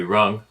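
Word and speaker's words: rừng: The indigenous people called them Ngoi Rung. Ngoi Rung is pronounced Nui Run, Of course it is.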